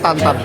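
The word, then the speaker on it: Tatin: Tulisannya Tintin tapi bacanya tantan.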